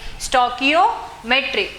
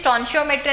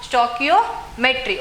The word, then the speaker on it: stoichiometry: Okay, so here the pronunciation is stoichiometry. Okay, so ಇದು confusion ಆಗ್ತೈತಿ. ಸ್ಟಾನ್ಶಿಯೋಮೆಟ್ರಿ ಅಂತ ಹೇಳಿ ಜಾಸ್ತಿ ಪ್ರೊನೌನ್ಸ್ ಮಾಡ್ತಾರೆ, ಬಟ್ ಇದ್ರ ಪ್ರೊನೌನ್ಸಿಯೇಷನ್ ಏನು ಸ್ಟಾಕಿಯೋಮೆಟ್ರಿ.